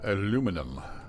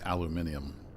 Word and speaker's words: aluminium: of then we have aluminum or if we uh if you're across the pond, it's spelled slightly difference and it's aluminium. Both ways are correct. There are two alternate spellings and pronunciations.